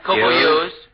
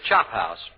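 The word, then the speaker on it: chophouse: Copo use. Copo use. No, you were close. Actually, it's Chop House.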